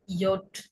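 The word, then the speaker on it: Jot: এরপরে রয়েছে ইয়ট। যে ইয়ট, ইয়ট বলা হয়, কিন্তু উচ্চারণ কিসের মতো হবে? ওয়াই এর মতো হবে।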